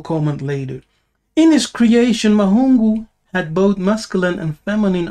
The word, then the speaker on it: Mahungu: So, the word Mahungu is constructed of three syllables. Ma, hu, and ngu.